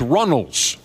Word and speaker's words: Runnels: It's not Reynolds. It's Runnels.